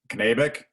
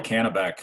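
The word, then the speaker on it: Kanabec: pronunciation issues i uh i just learned knabic is that how you pronounce the county i've uh i've always called a canabek so i guess i'm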